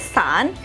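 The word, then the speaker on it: 伞: nah dalam bahasa Mandarin payung ini berbunyi atau disebut sebagai San dimana pelafalan kata stand ini mirip dengan kata sandi yang artinya per Sahan atau berpisah Jadi janganlah ya kalian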